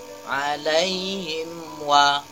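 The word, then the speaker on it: عَلَيْهِمْ: sukun bertemu dengan Wow alaihim wa mim sukun bertemu dengan Wow itu izhar Apakah izhar syafawi mim nya jangan ada dengungan atau tekanan alaihim wa alaihim wa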